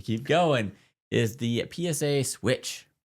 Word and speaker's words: SWCH: Is the PSA Switch. SWCH is how they spell it.